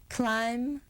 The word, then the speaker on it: climb: For example, we just say plumber, plumbing, climb, climbing. The consonant B is silent. We don't hear it at all.